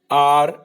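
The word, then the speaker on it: hour: Next, honest, ऑनर, आर, एयर, इसमें H silent है।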